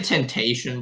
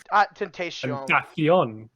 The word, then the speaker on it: Tentacion: had, You're gonna say Temptation, bro? Tentacion. Tentacion. Tentacion. Sorry, I've never heard it pronounced like that.